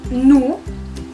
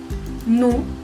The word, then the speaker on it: nous: Après, nous, es nosotros, nous. Si se dan cuenta, la S del final no se pronuncia. Y la O y la U suenan como U. Entonces es nous.